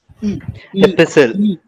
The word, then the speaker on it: epistle: The last one, Epistle. T. T. T, and one more letter. E. E, right, epistle.